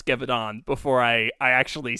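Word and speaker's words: Gévaudan: what how to pronounce gavidon before i i actually said it because i am terrible at french frontiers but g is a j and the n doesn't exist javadon yeah yes all right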